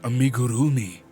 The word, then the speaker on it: amigurumi: your mother leave it when it comes to Japanese words it helps to break them into the syllables like originally and also just completely destroy the r pronunciation so it becomes amigurumi exactly amigi it's a